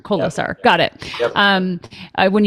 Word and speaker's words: Kolesar: Kolesar. Yeah. Kolesar. So I have to add an extra syllable in there. Kolesar.